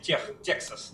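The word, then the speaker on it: Texas: сказал Ну да Тексас Техас если быть Точнее А как по-английски звучит по-английски звучит Тексас Да но вообще оригинально Техас Ну потому что от испанского Угу оригинально Техас если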